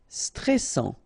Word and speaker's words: stressant: Stressant. Okay, final T not pronounced, and then A-N-N, stressant.